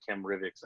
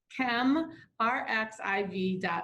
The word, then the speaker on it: ChemRxiv: archive to them and they'll continue saying chem Britax anyway so anyway somebody corrected me and I kept seeing the wrong thing and then I realized oh I had the name wrong so the website is a preprint service and it's come our xiv org correct yep absolutely and